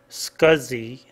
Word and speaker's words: SCSI: scanners SC s CSI pronounced scuzzy like s c u z z y scuzi stands for small computer